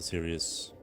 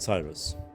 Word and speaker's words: Sirius: Thank you, brother Sirius. I My apologies for pronouncing it Cyrus.